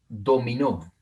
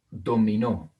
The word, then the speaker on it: dominó: Acá tengo otra palabra con el acento en la última sílaba, dominó, dominó.